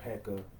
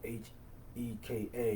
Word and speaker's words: Heka: There's different ways you can pronounce the word Heka, or H-E-K-A.